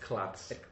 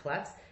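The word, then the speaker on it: klots: Pronounced klotz. Pronounced klotz.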